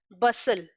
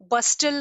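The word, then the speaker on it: bustle: बसल, बस्टल नहीं प्रोनाउंस करेंगे, बसल, टी is silent.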